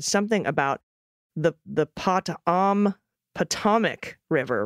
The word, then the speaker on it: Potomac: my kids said something about the the potam Potomac River rhymes with atomic Potomac but with a short o sound the other responded that's how you say it I thought it was potamac stress on the first syllable Potomac long o